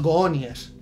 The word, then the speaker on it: Goonies: que me has pedido vamos a ver los gones ya sabes que aquí el inglés se pronuncia en español vale también los goonies tus hay que pedirlo